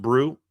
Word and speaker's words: Brew: I was told that it's pronounced Brew.